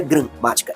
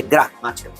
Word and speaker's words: gramática: É é uma pronúncia mais mais forte, mais aberta, gra gra, não é gramática, é gramática. E aqui eu tenho dois